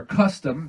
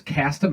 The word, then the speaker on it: Kastam: It's the Kastam, or Custom. Japanese pronounce it as Kastam and spell it as Kastam.